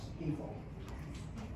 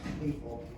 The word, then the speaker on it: Stifel: They have sold as of September 27th to, it's pronounced Stiefel. Spelled Stifle, but it's pronounced Stiefel and Nicholas and Company.